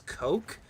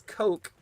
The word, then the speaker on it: Koch: It's supposed to be pronounced as coke.